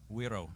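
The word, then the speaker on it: güiro: How do you pronounce this correctly? Wiro.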